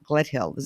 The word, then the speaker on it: Gledhill: that whole space and his name is Simon Gledhill and I'm pronouncing your last name correctly Gledhill you're pronouncing